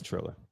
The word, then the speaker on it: Triller: It's Triller. TR. Trill, like Triller.